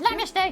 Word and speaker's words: namaste: People always go for that namaced. I know. You know it's pronounced namaste.